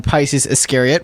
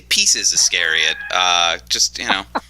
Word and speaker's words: Pisces Iscariot: So the least best song on Pisces Iscariot, which Steve, for some reason, mispronounces every time we talk about this album. What, Pisces Iscariot or yeah, you always say like Pieces of Iscariot. I always say Pieces Iscariot.